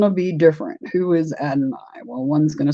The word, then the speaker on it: Adonai: And he corrected me and he said it's Adonai. So if you want to know how to correctly pronounce it, it is Adonai.